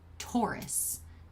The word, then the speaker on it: Taurus: I do captions um closed captioning likes to spell it t-o-u-r ist I am saying Taurus t-a-u-r-u-s also a Ford vehicle